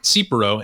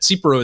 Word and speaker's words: Tsipouro: rundown that yanni submitted first so this is cipro and it's it's spelled t-s-i-p-o-u-r-o so it's a greek style clear